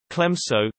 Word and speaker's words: Clemenceau: Georges Benjamin Clemenceau, French pronunciation, Clemenceau, the 28th of September 1841 to the 24th of November 1929, was a French statesman, physician, and journalist.